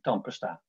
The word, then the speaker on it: tandpasta: En die tweede A is onbeklemtoond en kan je dus ook als een schwa, als een U uitspreken, tandpasta.